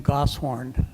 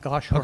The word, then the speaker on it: Goshorn: and incidentally, they pronounce the name Gosshorn. Gosshorn, okay. Not Goshorn.